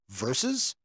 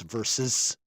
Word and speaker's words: versus: It's a two-cllable word is pronounced verses. A verse is in a poem or a song. That's what verse is. When it's one person against the other, it's verses.